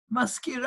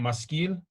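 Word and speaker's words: משכיל: Maskira, I mean to know. No, skill with the lamed at the end. So spell it in Hebrew for me. Talking about maskil?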